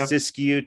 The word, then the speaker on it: Siskiyou: where an entrepreneurial new internet provider, whether that's Siskiyou, is that how you say it, Russ? Whether it's right, yeah. Siskiyou Telephone, or whether it's an electric co-op, or